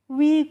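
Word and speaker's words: weak: तो डब्ल्यू ई ए के और डब्ल्यू डबल ई के दोनों का ही प्रोनाउंसिएशन क्या होता है? वीक होता है।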